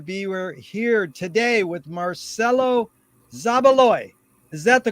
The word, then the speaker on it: Marcelo Zabaloy: a pleasure to be here here today with marcelo zabaloy is that the correct way to pronounce it yes sir yes sir very much